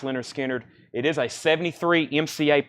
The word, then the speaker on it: Lynyrd Skynyrd: you on this super duper nice copy of pronounced Lynyrd Skynyrd it is a 73 MCA press high bid is with Michael Mcdowell at 50.